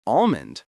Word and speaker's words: almond: We save the L sound for the word almost, but we drop it for almond.